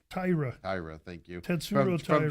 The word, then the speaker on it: Taira: We get to see him again here against I always say his name wrong. Taira, thank you.